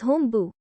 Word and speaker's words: honbu: discipline the training ground sometimes honbu is written as hombu the way it is pronounced but the hepburn transcription is honbu in which the n as a syllable can